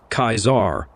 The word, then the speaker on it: Caesar: Dickanus, the veteran pronounced Caesar, like Kaisar, which I eventually learned was strangely the standard pronunciation throughout the Legion.